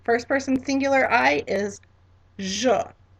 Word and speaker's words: je: All right, so again, first person singular I is je, je.